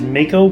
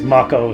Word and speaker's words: Mako: me that restore Mt I believe the correct pronunciation is Mako but I've been watching videos with people saying it as Mach Oh soit's so apparently managed to slip into my pronunciation there we go there's